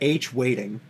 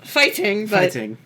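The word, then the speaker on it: hwaiting: I'm gonna call it H Waiting. Because that's what it looks like in English. Says, but I'm just gonna call it H Waiting. Anyway, it's pronounced fighting.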